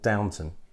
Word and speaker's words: Downton: Okay, so back in the 60s, there was a tuning company in Wiltshire called Downton. Okay, not like as in that TV programme. Yeah, Downton it's spelled Abbey.